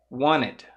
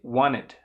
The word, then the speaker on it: wanted: você tem um NTE, também é possível pronunciar sem falar o T, tá? Com o T mudo. Wanted. Não falei o T. Wanted.